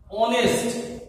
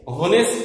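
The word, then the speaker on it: honest: বাক্য দেখো সীমা ইজ অনেস্ট হনেস্ট নয় অনেস্ট তাহলে এখানে কোথায় থেকে উচ্চারণটি শুরু হয়েছে ও ভাওয়েল থেকে অতএব এখানে তোমাদের অবশ্যই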